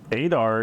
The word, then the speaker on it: Adar: Adar is surprising me.